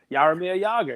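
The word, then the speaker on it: Jaromír Jágr: It's a silent J? Jogging? Yog. Yarmir Yager. You did good, man.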